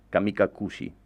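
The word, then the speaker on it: 神隠し: El título en japonés es Sentuchijiro Kamikasuki, Kamikakushi se escribe, se pronuncia así.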